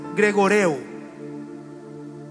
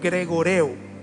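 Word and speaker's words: γρηγορέω: in the original Greek es gregoreo, is pronounced Gregorian, como Gregorio, gregoreo, like the name Gregorius, but y significa mantenerse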